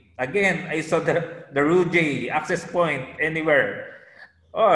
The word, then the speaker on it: Ruijie: it's rude i mentioned i mentioned it as ruidi luigi but i i just learned that the right pronunciation is rujay yes correct correct okay what brand is this